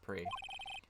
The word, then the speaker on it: prix: audience pre i'm gonna yeah it is pronounced pre chat the the p-r-i-x it's pronounced pre the crowd erupted into